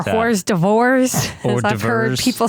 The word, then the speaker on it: hors d'oeuvres: Why is it spelled like that? Hors d'oeuvres as I've heard people say.